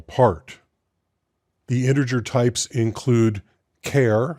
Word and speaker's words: char: The integer types include char, C-H-A-R, I pronounce it char, some people say char, int, short int, long int, and long int.